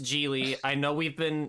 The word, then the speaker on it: Gigli: So, Jiglo is about it is about a man named Larry Giggley. It's pronounced Jely.